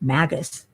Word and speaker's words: Magus: and maze mages though they call themself Magus don't ask me why with a hard G but there's mages and